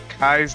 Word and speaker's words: Kais: Oh, it's pronounced Kais, not Keys.